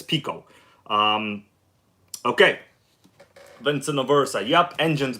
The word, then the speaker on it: Pico: Pico engines, and some people would say Pico, but I'm pretty sure the correct way to say it is Pico.